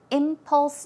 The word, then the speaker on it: impulse: past she was an impulse buyer she would buy without much thought very quickly suddenly and a pronunciation is impulse as you see the stress goes on the first syllable so it's impulse impulse